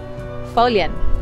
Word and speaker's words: Foillan: Foillan. Don't be confused by the way that it's spelt.